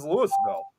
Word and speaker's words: Louisville: Louisville, but it's actually they over there they pronounce it as Lewisville.